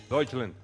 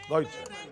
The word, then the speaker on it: Deutschland: Deutschland. Deutschland. Germania, yo pienso algo con eso, al respecto, ¿no?, de eso. Si los alemanes dicen que el país se llama Deutschland, ¿por qué nosotros le decimos Alemania?